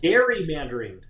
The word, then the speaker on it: gerrymander: not be named right representative pronounced gary mandarin you say gary that that's the actual we were we were